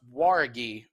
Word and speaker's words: Jauregui: It's pronounced Jauregui versus Estela Nunes.